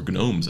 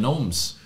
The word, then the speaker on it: gnomes: noen versus Kouts or gnomes as they're called in English or even gnomes oh yes do you pronounce the G or not no we do not well that's I'm I'm